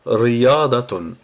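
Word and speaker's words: رياضة: Pour le prononcer, en fait, c'est d'abord Ri. Après, on a le ya qui est prolongé par le alef, ça fait ya, ya. Après, on a va, et après, on a tun.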